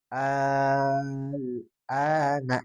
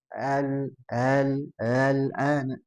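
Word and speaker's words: آلْآنَ: Adapun ulama ee yang lain ya membacanya bisa ditashilkan jadi dipendekkan langsung ke huruf berikutnya. Al al an. Tapi di sini kita bacanya mad lazim kalimi mukhafaf enam harakat. Alana gitu ya.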